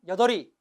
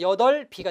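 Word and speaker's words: 여덟이: 뭐라고 발음해야 됩니까, 여러분? 여덜이. 이러면 안 돼요, 그죠? 자, 뒤에가 이가 왔으니까 받침 비읍을 그대로 연음하면 뭐가 돼요? 뒤에 받침만 연음하니까 여덜비가 되는 거죠.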